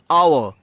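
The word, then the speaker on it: hour: যেরকম এক্সাম্পল দেখে নিই অ্যান আওয়ার, an honest man. তো দেখুন এখানে এইচটা সাইলেন্ট আছে, তার জন্য আওয়ার অনেস্ট, তো এইচটা উচ্চারণ হচ্ছে না, তো তার জন্য ভাওয়েলের মতো সাউন্ড করছে।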